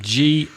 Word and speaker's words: gourmet: Is it G-O-U-R-M-E-T? Yep. Gourmet? Yep. Is it gourmet or gourmet? I've heard both. I've heard 2 or 3 pronunciations, but the T is always silent.